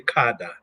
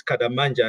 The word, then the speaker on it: Kadammanja: my name very well most people in South Africa say kada and you're pronouncing it very well so my name in in Malawi those two names kadamanja and are surnames